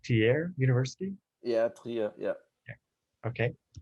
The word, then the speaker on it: Trier: at uh your professor at uh how's it pronounced tier university yeah yeah yeah okay um and if